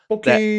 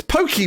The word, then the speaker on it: Pocky: Pocky it's an Asian, it's an Asian treat. Okay. It's a stick. It's just like stick. With the chocolate. It's pokey, man. No, it's pocky. No, bocky is proper pronunciation.